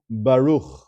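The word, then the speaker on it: ברוך: You'll notice that there is a sheva underneath that final letter, the chaf sofit, and it is silent. You can almost ignore it. You could pretend it's not there.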